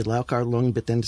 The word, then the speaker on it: Liu Chia-liang: Liu Chia-liang, or how do you pronounce it? Okay, I learned it with the Cantonese, which is Liu Chia-liang, and this is always